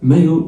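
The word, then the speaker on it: maillot: ان مايو ال ما بيتنطقوش.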